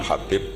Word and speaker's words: Habib: yang nulis Abi Abdurrahman Habib assulami itu di harakatnya kitab itu ada yang nulis khubb Yang benar Oh gigih yang benar itu bacanya habib habib itu asulami itu ikut